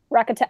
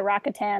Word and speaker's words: Rakata: Rakatan. Well, it's like they were pronounced Rakata, but then their empire was the Rakatan.